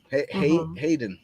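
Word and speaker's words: Haydn: Hayden, right?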